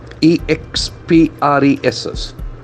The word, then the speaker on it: express: of the day Express e x p r e s s it's a beautiful beautiful word Express Express can see here again the X and forth to the second syllable Express it's a verb Express